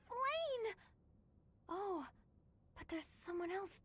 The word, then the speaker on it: Flayn: Is that really how you pronounce Blah? That appears to be Flayn. Is it Flayn? Yes, it's Flayn!